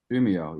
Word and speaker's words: Umeå: Yeah, I'm about around the same latitude as Umeå. Is that the right pronunciation? Umeå, yes.